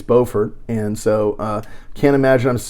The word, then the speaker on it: Beaufort: pronouncing that one right I said Beaufort on the Yale and it's Beaufort and so can't imagine